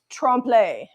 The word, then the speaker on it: trompe: It's pronounced trompe.